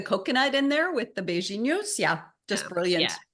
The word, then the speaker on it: beijinho: So she made pineapple shortbread, mango crinkle cookie, and then the coconut beijinho. Is that how you pronounce it? Yeah, beijinho.